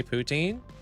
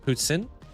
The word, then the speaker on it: poutine: or like uh you don't actually say poutine. That's not the way you actually pronounce it. It's actually pronounced Putin.